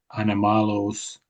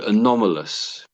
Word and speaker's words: anomalous: Unidentified anamalos phenomena. Yeah, I think you're you're good. Apart from the middle ones is just a bit so anomalous.